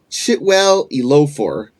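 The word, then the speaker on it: Chiwetel Ejiofor: In the film, Clark, Chitwell Elofor, I think is how it's pronounced, furniture store owner and his therapist Mary,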